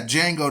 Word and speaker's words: Django: Yeah, Django, the D is silent.